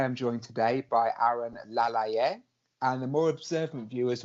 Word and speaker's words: Laleye: notice the fact that I've pronounced the surname a slightly different way to most ring announcers when they when they call his name out so we'll talk about